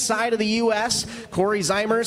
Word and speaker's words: Zeimer: He stops me almost every Friday night when he can at Mississippi Thunder Speedway to let me know and remind me that it's Zeimer with an E.